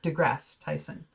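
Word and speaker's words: deGrasse Tyson: is that how you say his name Neil degrass Tyson yeah degrass Tyson and uh I saved it it's a Tik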